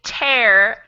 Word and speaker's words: tear: yeah a little bit so this one is pronounced in the same way that air is is an oxygen right so we breathe air and we tear paper tear tear so tear